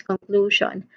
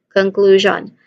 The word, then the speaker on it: conclusion: So the first syllable is kun. This is the first syllable, the short o sound, as in cup. And then you keep it short and stressed, of course. All right. Next is klo. Klo. So with letter K sound still. So the second syllable, it carries the primary stress.